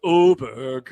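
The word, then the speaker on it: Åberg: Yeah, but it's pronounced Oberg. No, there's an A in it. I pronounce it Aberg.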